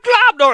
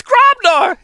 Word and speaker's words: Grobnar: It's not Globnor, it's Grobnar!